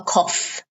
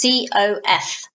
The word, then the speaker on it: cough: cough that is a cough notice the pronunciation and it's spelt see Oh ugh but the pronunciation is COF cough simple cough and